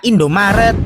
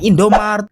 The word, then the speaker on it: Indomaret: Dan kalau si biru itu namanya Indomaret bukan Indomartet. Hayo, siapa nih yang masih sering salah sebut?